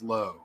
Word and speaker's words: Lowe: Brandon Lau is Lau. Nathan is Lowe, and they're spelled the same way.